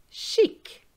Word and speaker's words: chic: Pronounce the final C with the following words. Avec, which is with. Donc, therefore. Chic, stylish.